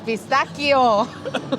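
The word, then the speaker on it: pistacchio: Oh, pistachio? It's pistachio. Ah, we're having real Italian food. Yes, Pistachio. real Italian words as well, and pronunciation.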